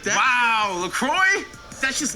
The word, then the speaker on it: La Croix: Wow, LaCroix? That's just not LaCroix. It's La Croix.